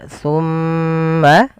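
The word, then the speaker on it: ثم: Pada lafal summa, ketika kita melafalkan bacaan summa, ini hati-hati di lafal huruf sa. Ya teman-teman, ketika kita melafalkan huruf sa, bagaimana cara melafalkan huruf sa yang benar? Yaitu ujung lidah kita menempel dengan gigi sari atas. Dan jangan sampai huruf sa di sini diganti dengan huruf sin.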